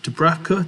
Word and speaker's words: Dubravka: We had Darlow and I think it's Dubravka, that's how you pronounce his name, because there was a phase where, Dubravka did come in and play for a bit of this season.